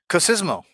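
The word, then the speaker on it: COSYSMO: because sounds very similar is it co kismo was it kismo that's right I mentioned cooko earlier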